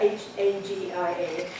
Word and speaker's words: Hagia Sophia: in Istanbul is the Hagia Sophia. So if you see it written out, you think it says Hagia, H-A-G-I-A, but it's the Hagia, that's how they pronounce it.